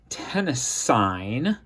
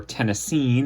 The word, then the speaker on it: tennessine: carbon tetr tenis side that is tenine or tenine if you want to pronounce it that way which is a new